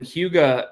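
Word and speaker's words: hygge: It's pronounced huga and no one would pronounce h y g huga.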